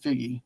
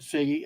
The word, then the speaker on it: Figgie: I've only heard it pronounced like Figgy.